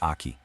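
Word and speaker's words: 秋: And our final building block for today is aki, pronounced aki.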